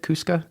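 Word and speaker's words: Chuska: middle of some mountain ranges is it the tuska mountains is that how you say it cusca yeah yeah that's right I know that I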